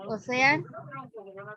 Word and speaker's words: ocean: And in question number 4, the word ocean. Suena más como shh, to keep it in mind.